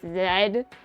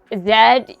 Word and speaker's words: Z: in the United States in the United States that's how Z is pronounced I think in some countries it's pronounced like zed zed yeah that's not American